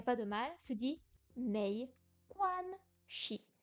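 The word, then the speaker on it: 没关系: Shi, pardon. En bas, le dos de la langue, non. La langue est en haut, mais le bout est en bas. Shi. Mei quan shi. Mei quan shi. Il n'y a pas de ton sur le si.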